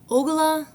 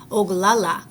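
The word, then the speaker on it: Oglala: don't notice me they don't know that I'm ogula Lakota Native American oh I think I said his name wrong let me try that again oala Lota Native American they don't know that I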